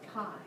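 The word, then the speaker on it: chi: transferring energy okay so this is and you pronounce it Kai this right here is the Greek letter Kai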